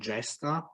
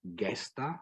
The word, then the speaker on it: Gesta: work and image and gesta or guesta with the classical Latin pronunciation she has been awarded